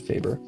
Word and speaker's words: Faber: it fer or fa I've always said Faber most of these art Brands I pronounced as if they were German because like they're expensive so therefore it must be German so technically it would